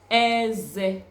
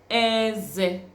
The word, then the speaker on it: eze: Remember to try to learn the tone. Try to pronounce it with the tone with which I pronounce it, because if you change the tone, it's going to mean another thing. So you say Eze. If you say eze, it is another thing. Eze, that is teeth.